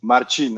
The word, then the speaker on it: Marcin: Is it Marcin? You pronounce it beautiful, beautifully pronounced. Yes, Marcin, actually, yes.